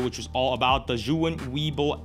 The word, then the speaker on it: Zhiyun: Okay, to clarify, that is how you say Zhiyun. This is the correct pronunciation for Zhiyun.